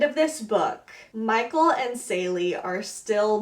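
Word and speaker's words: Célie: The main characters in this book, by the way, I pronounced her name wrong. It's Sally, not Seely, but Seely stuck in my head.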